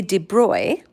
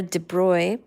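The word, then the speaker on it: de Broglie: graduate student Prince Louie de Bry remember de Bry his last name is spelled like brogly de Bry then speculated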